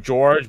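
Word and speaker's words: Georges: There's an S at the end of George, but that's sort of how French works, is that you need something after that to pronounce it.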